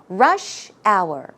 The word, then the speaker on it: rush hour: mmm practice the pronunciation rush hour rush hour hmm try to pronounce it smoothly as if it's one word so try after me